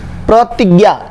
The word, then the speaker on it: प्रतिज्ञा: प्रतिज्ञा, ती में बड़ी की मात्रा नहीं होता, ती में छोटी की मात्रा, प्रतिज्ञा।